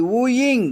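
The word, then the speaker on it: wooing: ஊயர் காதலிப்பவர் அடுத்து டபள்யூ ஓ ஐ என் ஜி ஊயிங் காதலித்தல் இந்த பக்கத்துல உப்புண்டு படிச்சோம் அதவே சூப்புன்னு படிக்கணும் ரெண்டு உச்சரிப்பு படிக்க சொல்றாங்க டிக்ஷனரில போட்டுருங்க உப்புண்டு படிக்கலாம் சூப்புன்னு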